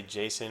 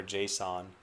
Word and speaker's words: JSON: pronounce Jason I mean you'll hear people here say Jason or Json I've heard both of those I don't think I've ever heard anyone say JS n so yeah I think